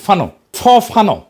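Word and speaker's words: Fanon: ফরাসি আলজেরিয়ান চিন্তাবিদ ফানো নাম আসল উচ্চারণটা, উনি বলছিলেন, পরাধীন জাতিগোষ্ঠী লড়াইয়ের ভিতর দিয়ে নিজেকে চিনতে শেখে।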